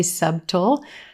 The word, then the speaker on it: subtle: six subtle subtle yes the b in this word is totally silent and a lot of times even native speakers put this sound in there and say subtle you don't need it subtle subtle if something